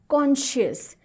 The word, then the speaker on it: conscious: मैं वापस रिपीट करती हूँ, CONSCIOUS, कॉन्शियस। हाँ, इसमें SCI है, फिर भी इसका जो उच्चार है वो इस तरह से आएगा, कॉन्शियस।